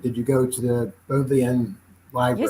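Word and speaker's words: Bodleian: pronounce it but did you go to the both the end live you said it right the boat land okay and if if your answer is yes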